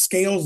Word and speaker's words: Scales: But my last name is pronounced Scales like fish, but I am often confused with the phenomenal AJ Styles through a set of extraordinary circumstances.